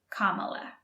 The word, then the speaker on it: Kamala: the Vice President of the United States now Kamala Harris Kamala Harris be careful with the pronunciation it's Kamala what ocean is on the east coast of